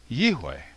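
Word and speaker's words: יהוה: so in my opinion the pronunciation of the name yodhay vavhay is yewei i should point out why i use the w rather than a v for the letter vav in modern hebrew the sixth letter of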